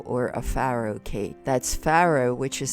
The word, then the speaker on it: farro: TTA de Faro or a pharoh cake that's pharoh which is spelled f a r r o and is